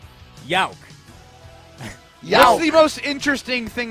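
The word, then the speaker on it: Jauch: your last name is y-o-w-k yeah but it's spelled with the J I think it's j-a-u-c-h correct yes it is yok yawk yoke that's the most interesting thing about you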